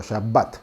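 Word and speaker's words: שבת: de la a y este puntito que hay dentro de la B indica que la letra b se tiene que pronunciar doble no es shabat ni shabat sino shabat no bueno eso en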